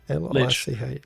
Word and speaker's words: Lich: How do you pronounce that? L-I-C-H.